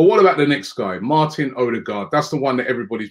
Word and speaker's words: Martin Ødegaard: It's Martin Ødegaard. So it's but we have this letter, the O with a line over it.